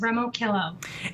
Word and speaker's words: Remoquillo: How do you say your last name? My last name is Remoquillo.